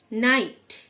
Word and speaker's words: knight: নাইট, KNIGHT, কে silent, মানে অশ্বারোহী যোদ্ধা।